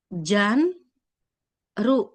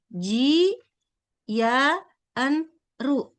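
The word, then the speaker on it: ジャンル: Ini dibaca jan ru seperti ini minasang. Janru ya. Janru. Jadi di sini ada huruf ji bertemu dengan ya.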